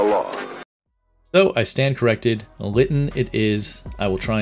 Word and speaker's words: Lytton: Funny note, when I played this game as a kid, I pronounced it Lytton, and I've gone through my entire life pronouncing